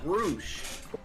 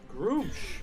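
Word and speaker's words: Gruumsh: It is pronounced Groosh. Groosh. Yeah, Groosh.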